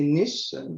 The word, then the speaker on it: niche: a niche i guess in french we say nish i don't know the english pronunciation but the idea there